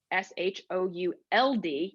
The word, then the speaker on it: should: recognizing what they look like the word should s-h-o-u-l-d you don't really pronounce the outlets should and so it's it's